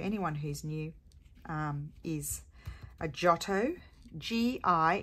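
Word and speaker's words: Giotto: who's new is a jotto GI in Italian GI is pronounced as a j so jotto glue stick and um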